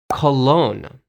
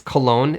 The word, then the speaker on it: Cologne: For example, the German city of Köln in German is Köln, but in English, it's Cologne. Yeah, exactly. Like 香水 is Cologne. That's the same pronunciation.